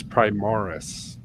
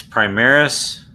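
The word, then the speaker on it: Primaris: listen to the books its prime Morris no it's primaries well the British say hi Morris well they don't know how to say stuff next year we have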